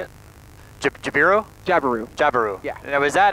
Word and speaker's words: Jabiru: Jabiru.